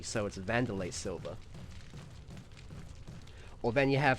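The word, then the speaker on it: Wanderlei: name is pronounced uh wlay because it's spouted w an at the start but no it's vanderlay like the W is pronounced as a v so vandelay silver or then you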